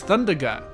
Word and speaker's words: Thundaga: It's Thundaga. Like, it's all the spells have short sounds. It's Firaga, Blizzaga, Thundaga, and so on.